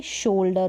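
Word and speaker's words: shoulder: ये शोल्डर हो गया, शोल्डर, ओ यू आ रहा है, ओ पढ़ा है इसको।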